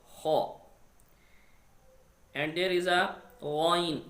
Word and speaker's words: خ: There is a Kha, also throated letter. We pronounce from closest part of throat near the mouth. Kha.